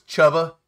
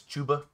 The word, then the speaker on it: Chuba: This is probably, he probably says Chubba Hubbard. It's Chuba.